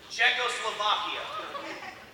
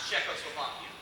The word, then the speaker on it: Czechoslovakia: Czechoslovakia. No. Yeah, the Z is silent. Czechoslovakia.